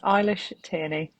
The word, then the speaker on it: Eilish Tierney: It is Eilish Tierney. There you go. So for all future ring announcers that are calling her, hopefully in Matchroom and Boxer and so Big Mo, you're listening. That's how to say it properly.